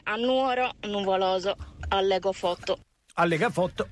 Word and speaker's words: Nuoro: sentite qua Vi prego si dice Nuoro non Nuoro Ecco quindi come si dice